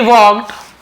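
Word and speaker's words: walked: छोड़कर चला गया ही वक है ना ही वक यानी वह चला वक का वड है ना वल्ड नहीं पढ़ेंगे एल साइलेंट होता है लेकिन लिखते हैं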